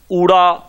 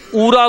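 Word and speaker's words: ਊੜਾ: ऊड़ा, इस दा उच्चारण ऊड़ा है, पर बाहर दे जम पल बच्चे इस नूं ऊरा बोलदे ने, ऊरा, इह जिहड़ा है इह गलत है, इहदा उच्चारण है ऊड़ा।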